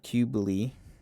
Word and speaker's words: Cybele: So, the name Qubeley is likely derived from the uh, Anatolian goddess uh, Cybele, pronounced roughly like uh, Qubeley.